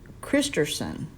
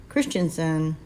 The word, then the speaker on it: Christenson: And this guy also, Jeff, I guess it's pronounced Christenson. Christenson. I spelled, I mean, you think it would be Christensen, but it's Christenson.